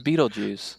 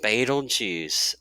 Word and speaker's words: Betelgeuse: So is that really how you say it? I always thought it was Beetlejuice. I think it's actually pronounced Betelgeuse when you're speaking of the actual star. Now the movie is Beetlejuice, but yeah, it's I think it's Betelgeuse.